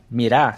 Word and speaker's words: mirá: Mirá significa árvore ou madeira, mas mira significa gente.